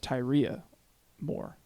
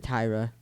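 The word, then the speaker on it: Tyria Moore: down her name is tyria more tyria more okay I just said Tyra yeah no no because it's spelled differently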